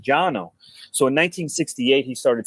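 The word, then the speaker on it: Cano: osgener but jono is spelled c-a-n-o but it's pronounced Jano so in 1968 he started CAO pipe company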